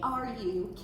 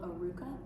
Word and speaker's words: Arukah: Can you spell it? Yeah, thank you. It's Arukah, and it's actually a Hebrew word that means restoring to wholeness in spirit, soul, and body.